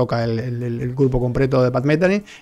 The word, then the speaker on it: Pat Metheny: temas sueño en el retorno bueno aquí la pronunciación es pat metheny más tienen pero bueno pat metheny ese círculo